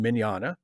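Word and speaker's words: Mignogna: mackenzie calhoun well vic magnana's last name is pronounced miniana and mackenzie calhoun is pronounced mackenzie calhoun and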